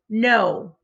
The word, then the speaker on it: know: o like in boat and the word is no i know the answer it's our focus spell